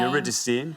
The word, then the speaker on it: Eurydice: Right, I am going to go for Orpheus leading, and I don't know how you pronounce his mate's name. Eurydice.